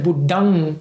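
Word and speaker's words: Buddhaṃ: And the Buddhang is actually the correct way of pronouncing it.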